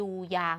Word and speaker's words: อย่า: นะ คะ เด็ก ๆ คำ ว่า อย่า ก็ เกิด จาก อยา แล้ว ก็ ใส่ ไม้ เอก อ่าน ว่า อย่า แต่ ใน การ อ่าน เรา จะ อ่าน เหมือน มี หอ นำ อยู่ สะกด ว่า อยู ไม้